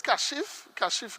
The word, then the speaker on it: Kashif: So I've heard many different pronunciations of my name over the years, right? So this is the first time I actually heard Kishav. Right, well, my name is Kashif.